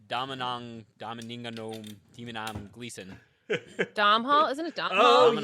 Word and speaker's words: Domhnall: Dom Hall, isn't it Dom Oh, Hall? yes, Domhnall yes.